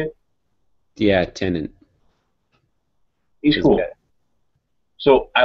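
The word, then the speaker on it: Tennant: tenant is that how you say it yeah tenant he's cool so I like the first one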